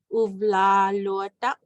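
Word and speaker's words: uvlaalluataq: We have the double A diphthong and we have the UA in here. So uvlalotak. The alotak is kind of like, it's what you're using to say it is a good.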